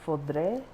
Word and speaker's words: foudre: not barrels, tanks, which in French it's called foudre. I don't know if I'm saying that right, but it's spelled I see it in all my wine